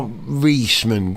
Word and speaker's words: Wiesmann: Wiesmann, Wiesmann, I think. W-I-E in German. The second of the vowels is the one you pronounce. So I-E is E, E-I is I.